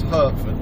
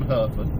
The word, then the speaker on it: Hertford: Now I'm going to call this place Hertford because it's H-E-R-T-F-O-R-D. I do know a place that's H-A-R-T-F-O-R-D, so I'm going to call this one Hertford because it's in Hertfordshire.